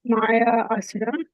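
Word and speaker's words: Maya Asura: Great presentation like um some mentioned in the comments uh it's pronounced Maya Assura right so maya or maya both of those or the person who built uh the mayasa okay anybody else have any questions about yishra Okay.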